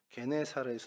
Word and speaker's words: 게네사렛: 이제 성경의 정설이죠 그리고 이게 발음이 와전돼서 이제 헬라어로 와전되는 발음이 게네사렛 이제 표기됐다 것 이것까지 저희가 살펴보는데 이것이